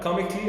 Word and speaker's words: comically: So the A that comes after C is going to be silent. Yes. I will I will not say com, right? Comically as if the A didn't even exist.